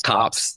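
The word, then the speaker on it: copse: of bodies in a copes of trees that's how you say it copes cops yes cops There You Go Cops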